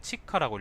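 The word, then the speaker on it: 血鹿: 혈록은 치카라고 읽는데요.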